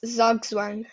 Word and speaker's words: Zugzwang: Who can pronounce this? Zugzwang. So it's Zugzwang.